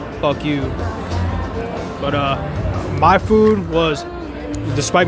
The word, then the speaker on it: FUKU: The restaurant I got my food from was called FUKU, so it'd be like fuck you.